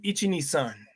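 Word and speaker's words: いち、に、さん: Ichi-ni-san. That's how you say it in Japanese.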